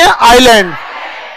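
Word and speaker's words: island: गया इसे क्या कहेंगे आइलैंड क्या कहेंगे आइलैंड एस इसमें साइलेंट है समझ में आ गया कि नहीं साइलेंट मतलब समझते ना उसका कोई उसका उसको बोला नहीं जाता है बट वो रहता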